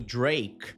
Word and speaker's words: Drake: Repara que quando ela fala o nome do Drake, o K praticamente some. Ela não força esse som no final.